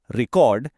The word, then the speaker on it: record: But if you stress the first syllable, record, it becomes a noun, a thing. I have a record. Same spelling, but a completely different word just depending on the stress.